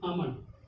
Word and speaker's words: almond: AMOND, आमंड। ठीक, इतना उच्चारण किए, इतने का प्रोनाउंसिएशन किए, क्या हो गया?